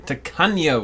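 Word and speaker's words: Tacaño: Takano is how we're going to pronounce it from now on.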